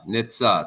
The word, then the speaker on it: Nitze: How to pronounce the last name for me? Sorry, I messed it up. Nitze.